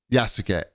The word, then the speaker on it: Yasuke: Yasuke. Say it like Yas Queen, like Yas Queen.